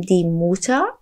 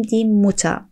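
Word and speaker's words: Mutter: دوستان توجه کنید وقتی که در زبان آلمانی جایی دیدین که یک دونه حرف دو بار پشت سر هم اومد اون حرف کوتاه تلفظ میشه. در واقع اینجا نمیگیم دی موتا بلکه میگیم دی موتا این چیز خیلی مهمیه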